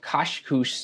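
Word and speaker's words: Kach Kouch: to a site called Kashkus in present day Morocco. And yes, trolls, I got that pronunciation from an Arab speaker, so spare me the smarmy comments.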